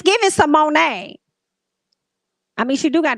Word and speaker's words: Symoné: And she was like, "It's Symone."